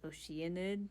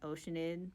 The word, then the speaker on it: Oceanid: to have the electro apparently it's pronounced like oceanid not oceanide but you know if